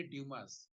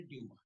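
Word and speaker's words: Dumas: Alexander ड्यूमास, उसकी spelling तो Alexander ड्यूमास, लेकिन उसका उच्चारण है अलेक्जेंडर ड्यूमा। और आप अच्छा।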